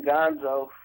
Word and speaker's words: Gonzoe: you told me that your name is pronounced like the Muppet character Gonzo um what made you what made you name yourself Gonzo well Kenny my name been Gonzo before rap like I